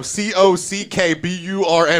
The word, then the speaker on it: Cockburn: C-O-C-K-B-U-R-N is Cockburn. You can say Coburn all you want, but your name is Cockburn. You're still an amazing basketball player. Just own that your name's Cockburn.